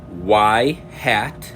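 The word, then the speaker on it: ŷ: It's going to be y hat, and that's how it's pronounced, y hat equals a plus bx, which we're very familiar with as y equals mx plus b.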